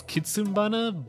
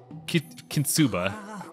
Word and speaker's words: Kintsuba: I think it's kitsumbana, but looks pretty good. Kintsuba. One extra syllable on my part.